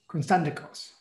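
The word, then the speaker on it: Konstantakos: Constantikos.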